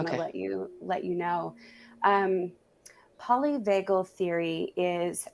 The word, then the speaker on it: polyvagal: Polynagal? Polyvagal, polyvagal theory.